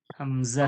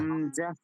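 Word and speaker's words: همزة: আলিফ আলিফ আলিফ হ্যাঁ এটা কি হামজাহ হামজা হামজা হামজাহ হামজা নয় হামজাহ হামজা এরপরে দেখুন এটা কি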